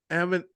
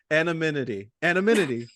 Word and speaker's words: anonymity: anonymity. Oh shit. Anonymity. And wait, what is it? Did I say it wrong? Yeah, because you're saying it with an M, like A-M. It's A-N. There's no M Anonymity.